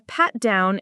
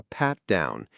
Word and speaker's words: pat down: Yes, a pat down. For pronunciation, it's pretty straightforward. Pat down. Stress on the first word pat.